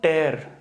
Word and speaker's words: tear: meaning में अंतर है तो स्पेलिंग्स आईडेंटिकल है टियर और टेयर की लेकिन स्पेलिंग मीनिंग में और प्रोनंसिएशन में अंतर है उनको हम लोग कहते हैं हेट्रो निम्स तो don't टेयर the delicate fabric don't